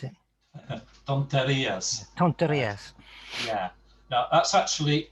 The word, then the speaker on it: tonterías: No me gustan cuando dis torrentias. If that's how you pronounce it. Tonterías.